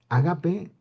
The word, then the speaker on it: agape: No es agape. Agape es una especie como de comida, de reunión, para poder invitar a las personas de comer. Es, la pronunciación correcta es agape.